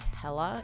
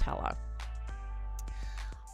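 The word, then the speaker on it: Helle: And from my understanding of the pronunciation, it is pronounced like hella instead of just hell. Um, I could be wrong on that. Um, but from the research that I did, it seems like it's pronounced hella.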